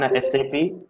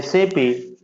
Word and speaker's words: SAP: In SAP, we have to call this word as SAP, not SAP. Okay. You need to pronounce SAP as SAP, not SAP. Many times you hear people talking like SAP. You should not call it as a SAP.